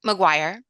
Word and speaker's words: McGuire: Before we even proceed, how do you pronounce the name, the second name? My name, McGuire. McGuire.